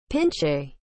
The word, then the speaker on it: pinche: what is the meaning of the word pinchay as a noun south american tamarin with a tufted head pinch a is spelled p i n c h e pinchy